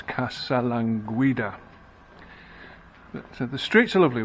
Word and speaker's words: Casalanguida: What's the right way of pronouncing it? And it's Casalanguida.